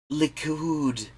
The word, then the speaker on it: Likud: Likud. Christ, have you even just watched regular-ass news sometime? Because they pronounce it correctly, more or less.